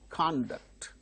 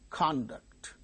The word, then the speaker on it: conduct: But when they are used as verbs, the second syllables are stressed. For instance, conduct, conduct, conduct, conduct, verb, conduct, that is verb, conduct is noun.